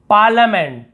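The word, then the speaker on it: parliament: पार्लियामेंट, पार्लियामेंट, पार्लियामेंट ऐसे नहीं, पार्लियामेंट यानी होता है संसद भवन, पार्लियामेंट, तो यहाँ पे आई को नहीं पढ़ना है।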